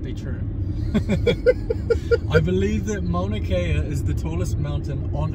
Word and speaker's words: Mauna Kea: Is that how it's pronounced, Johnny? I think you got that right there, Adam. Mauna Kea.